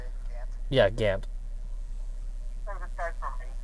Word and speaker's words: Gant: Yeah, Gant.